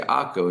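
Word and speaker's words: עכו: In Hebrew, we say Akko.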